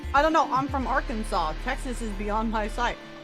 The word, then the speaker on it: Arkansas: It's Arkansas is how you say it. Yes. Look, I can't pronounce big words sometimes, but I can pronounce Arkansas right at least.